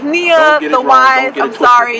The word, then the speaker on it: Niyya: i y y a t NE e e pronounced Nia T A lot of people ask me how do you pronounce your name I'm people yeah it's Nia the wise I'm sorry it's Arabic T is